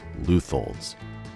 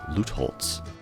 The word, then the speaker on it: Lutholds: Oh yes, Lutholds. I mispronounced the business in my previous video. That's my college German messing me up. I even had to re-record this bit because I first pronounced it as Lutholz.